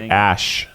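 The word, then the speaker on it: Æ: No, it's I think it's pronounced like Ash is what I read somewhere or something like that.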